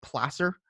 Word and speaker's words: placer: You can see over here folks doing placer mining, and by the way, it's spelled placer, but it's actually pronounced placer.